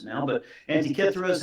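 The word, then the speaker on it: Antikythera: Depends how you pronounce it now, but Antiithra is how we pronounced it. Uh you know, if you're an Indiana Jones fan, it's uh Antither.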